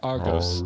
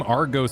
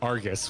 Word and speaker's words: Argos: why does the name Argos sound so familiar I mean if I pronounced it the wrong way I said it Argus which if you play